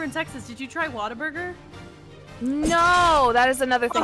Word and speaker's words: Whataburger: Wait, it's pronounced Whataburger? Yeah, Whataburger. like how I they thought say it in was Baltimore. Whataburger. Yeah, it's like what a burger.